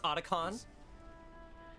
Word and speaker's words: Otacon: about him where's otakon it's pronounced otacon he's fighting right now